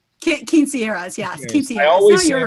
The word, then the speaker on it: quinceañera: Janie, Quinceañeras? Quinceañeras, yes.